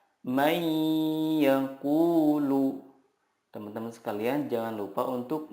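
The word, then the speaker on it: من يقول: Cara membacanya adalah meleburkan nun sukun ke huruf berikutnya dan disertai gunnah yang dipanjangkan 2-3 harokat. Contohnya, nun sukun bertemu ya, may yaqulu.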